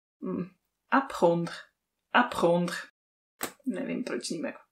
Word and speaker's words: apprendre: A to, že francouzské slovíčko, takových, přijde mi takových šedesát procent písmen z toho slova se vůbec nevyslovuje, prostě se to polkne, i kdyby to neexistovalo. Ježišmarja. Apprendre. hmm, evidentně dvě francouzské r po sobě.